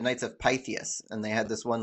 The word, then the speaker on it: Pythias: But anyway, if you look at Pythias, the Y says eh and the I says ee, like Pythius, right?